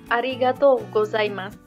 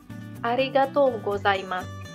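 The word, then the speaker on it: ありがとうございます: Di sini ada arigatou gozaimasu. Arigatou gozaimasu. Artinya terima kasih. Di sini O-nya adalah bunyi panjang. Kemudian U yang terakhir ini diucapkan kecil seperti nggak terucapkan. Arigatou gozaimasu.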